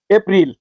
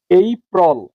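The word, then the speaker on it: April: আমরা এই শব্দটাকে পড়েছি। এপ্রিল এটাও ভুল পড়েছি সঠিক উচ্চারণ হবে এই প্রল তাইলে এর এখানে এর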